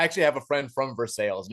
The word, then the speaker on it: Versailles: There's a what should be pronounced Versailles, Kentucky, but we call it's Versailles.